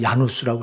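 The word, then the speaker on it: Jan Hus: AD 주 1400년경에 거기 요한 후스라고 하는 사람은 거기 발음은 야누스라고 했는데 요한 후수 존 후수라고도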